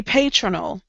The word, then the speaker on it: patronal: Pa, pay, tra, null. And you don't know where the emphasis goes if it's a new word.